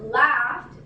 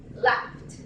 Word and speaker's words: laughed: Here, kick ends with K, so it's going to be pronounced kicked. Kicked. Here, laughed ends with G and H. And so let me fix that. Yes, it's with G and H. Laughed.